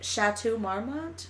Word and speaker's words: Chateau Marmont: stays the hell away from Los Angeles's famed Chateau Marmont is how you say it yeah I warm